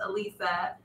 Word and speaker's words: Alyssa: See, Marty has a niece that is spelled like Alyssa but pronounced Elisa, and Elisa, wait, Alyssa, and then an Elisa spelled pronounced O-C.